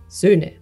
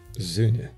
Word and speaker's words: Söhne: It's a very short, like Söhne. Söhne. Yeah, yeah. Just a bit longer at the end.